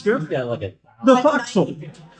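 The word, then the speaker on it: forecastle: Yeah, look at the foxel. Fauxil. Sorry. Thank you. Also spelled for castle. Yes, for all of those of you who have read naval books and never heard them pronounced, these words are freaking weird.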